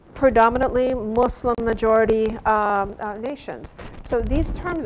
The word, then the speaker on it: Muslim: are Arabic word and the pronunciation is Muslim it's a soft s if lamb Muslim an